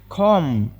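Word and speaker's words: comb: ಅದನ್ನ ರಾಪ್ ಅಂತ ಕರೆಯುತ್ತೇವೆ ಕಾಮ ಕಾಮ್ ಅಂದ್ರೆ ಇದರಲ್ಲಿ ಬಿ ಲೆಟರ್ ಸೈಲೆಂಟ್ ಆಗುತ್ತೆ ಅದಕ್ಕಾಗಿ ನಾವು ಬಿ ಲೆಟರ್ ಬಿಟ್ಟು ಓನ್ಲಿ ಕಾಮ ಅಂತ ಪ್ರೊನೌನ್ಸ್ ಮಾಡಬೇಕು ಇದರ ಅರ್ಥ ಕನ್ನಡದಲ್ಲಿ ಬಾಚಣಿಕೆ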